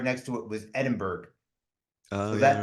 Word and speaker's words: Edinburgh: Yeah, I'm going to Scotland and it looks like Edinburgh, but that's like the Americanized. It looks like it's spelled that way, but it's actually Edinburgh.